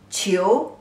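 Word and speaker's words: 囚: The pronunciation as qi, yu, qiu, the second tone.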